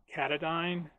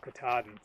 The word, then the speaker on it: Katahdin: Everyone pronounces this Katahdine, and I know that there's a mountain in Maine called Katahdin, so I think Katahdin might be the right way to say it, but it might be totally different.